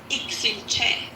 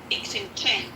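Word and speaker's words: Iximche: But the way you pronounce them, so the first one is Ixinche. Ixinche.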